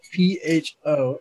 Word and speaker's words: pho: It's spelled P-H-O. It said pho.